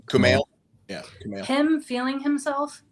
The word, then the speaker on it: Kumail: Is it Kumail? Kumail.